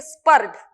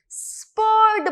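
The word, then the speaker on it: spurred: अब सबसे इंपॉर्टेंट चीज ये है, बहुत सारे लोग इसे गलत प्रोनाउंस करते हैं, उसे हम बोलते हैं स्पर्ड। Wrong, that is wrong pronunciation. स्पर्ड बोलना है, अपने प्रोनाउंसिएशन में ये जो आर वर्ड है इसको नहीं लाना है, स्पर्ड बोलना है, आर को नहीं लाना है, स्पर्ड इस तरीके से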